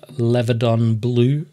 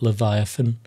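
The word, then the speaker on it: Leviadon Blue: We then go to the tried and tested Levadon Blue. I actually said it right that time. I think this is going to be the first video where I didn't call it Leviathan.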